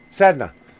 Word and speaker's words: Sedna: Sedna.